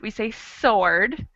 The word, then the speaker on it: sword: word the w exactly in the first word sword we don't say the w we don't say sword we say sword and the second one